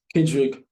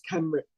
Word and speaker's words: Kenrich: It's Kenrick. It's Kenrick. Kendrick. I said Kendrick. Did you say Kendrick? I said Kendrick. Yeah. I used to say that. I know, right? No, it's Kenrich.